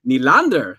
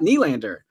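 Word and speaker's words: Nylander: Hyman with Marner and Neal and ER and by the way that's another pronunciation I got corrected on yesterday it's William Neal and ER not kneel and ER so anyways I was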